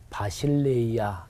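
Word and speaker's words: βασιλεία: 헬라어로 발음해 보면 바실레이아 이렇게 발음해요.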